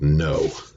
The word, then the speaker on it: know: word now so really in this word the K is silent and we really kind of ignore the W too don't we so that's about know so know this guy